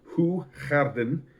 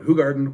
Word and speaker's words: Hoegaarden: Okay, Hoegaarden is pronounced Hoegaarden in Flemish or Dutch, which is the language